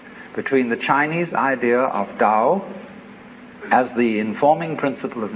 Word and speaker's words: Tao: is called a dowel ta o pronounced Dao in the Mandarin dialects Tao in the chung